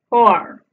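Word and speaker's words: four: posterior redondeada y es conocida como la O abierta y produce un sonido similar a nuestra O. Luego vemos dos puntos seguidos que ya sabemos nos indica que la vocal que la antecede se pronuncia alargada, es decir, dos veces. Finalmente vemos la R, que ya sabemos que en inglés se pronuncia mucho más suave que en español.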